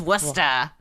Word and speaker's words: Worcester: face wasta what is westa I'm sure it's Worcester which is spelled like Worcester worship there's ours and C's in there but we drop them all and just a-l-l-i-t-e-r-a-t-e-s and